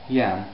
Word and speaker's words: Iam: The I, how do you pronounce the I? Yam.